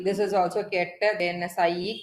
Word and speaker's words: psi: That is, if I am breaking down it further, so this vertical bar is pronounced as ket, and the Greek letter, this Greek letter is pronounced as psi.